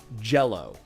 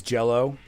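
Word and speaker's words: Gelo: I think that's how you pronounce it. For a while, I was thinking it's Gilo and then Gilo, Gello. But then I was like, it's Jello.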